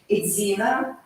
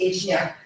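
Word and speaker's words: Ejina: Idzina, or how local pronounce Ejnya, Banner, right, Barun Banner, and left, Zunbana.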